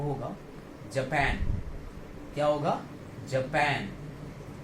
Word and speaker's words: Japan: और इस कंट्री का प्रोनाउंसिएशन जो होगा वो होगा जापान. क्या होगा? जापान. इधर जो ये TAN आ रहा है इसको हम जो बोलेंगे वो एग्जैक्टली वही बोलेंगे जो हम लिखने वाले पैन को बोलते हैं.